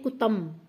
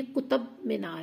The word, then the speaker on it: कुतुब मीनार: दिल्ली में जब उनकी हुकूमत थी तो उस दौरान उन्होंने ये कुतुब मीनार जो है, अक्सर लोग इसको प्रोनाउंस करते हैं कुतम, एम बोलते हैं इनमें, जबकि ये कुतुब मीनार है और ये 73 मीटर